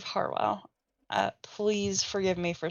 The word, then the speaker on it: Harwell: that so um Stephen Howell Powell oh my God Stephen Steve how well right I have to say it right it is Howell Farwell oh my God Harwell Steve Harwell uh please forgive me